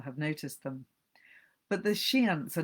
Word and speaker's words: Shiants: They are called the Shiants, one definite softened syllable, the Shantiles, like a sea shanty, but with the Y trimmed away.